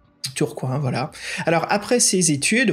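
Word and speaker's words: Tourcoing: à côté de Lille si je me trompe pas Fred c'est ça tourcoin la prononciation tourcoin ouais tourcoin voilà alors après ses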